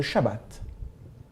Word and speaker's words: Shabbat: Ce jour, le 7e jour de la semaine, est celui qu'on appelle le sabbat, ou si on le prononce comme les Juifs, le Shabbat.